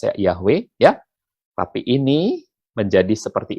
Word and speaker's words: Yahweh: Dari huruf-huruf ini menjadi untuk Arab seperti ini, untuk Latin seperti ini, bahasa Indonesia bacanya jadi Yahweh, tapi kalau bahasa Inggris, bacanya juga tetap mirip Yahweh, ya.